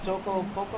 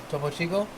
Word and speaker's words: Topo Chico: But the was it the Topo Poco, or how do you say that? Topo Chico? Topo Chico.